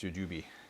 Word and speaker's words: jujube: always say it wrong jujube or jujube it's jujube jujube seed extract is one of those things